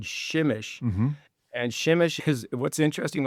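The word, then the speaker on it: Przemyśl: So, I took a train to a uh far eastern part of Poland to a town called Shimish. and shimish because what's interesting on shimeish is it's spelled P R Z E M Y S L naturally shimish.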